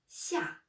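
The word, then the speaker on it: 下: Donc, la prononciation, c'est xia. Quatrième ton. Xia. Le ton, c'est comme quand on dit non.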